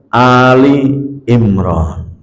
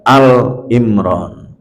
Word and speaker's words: Ali Imran: dnya Makanya di sini membacanya adalah Ali imr tidak Al imr secara makna juga jauh kalau Ali Imran itu adalah keluarga Imran sama kalau kita baca selawat